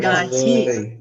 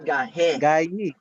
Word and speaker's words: gahi: galit naglisod naglisod Manang gahi All right you say gahi not gahe gahi should be not gahe gahe you don't